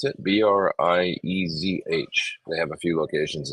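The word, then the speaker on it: Breizh: That's how you pronounce it. Briezh.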